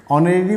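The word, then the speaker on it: honorary: ऑनरेरी poet, यहाँ H silent है, और से पोएट की बात हो रहा है तो इसका यहाँ पे एन का प्रयोग हुआ।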